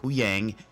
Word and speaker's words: Huyang: we meet back up with the crew of huyang um I got the name right this time because I always get a lot of criticism about I keep mispronouncing names uh who Yang Sabine and Ahsoka back on the ship as